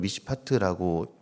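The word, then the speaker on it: מִשְׁפָּט: 원어로는 미시파트라고 발음하는 이 정의, 이 정의는요, 고아와 과부, 나그네를 돌보는 그 행위랑 늘 같이 이야기가 나오게 됩니다.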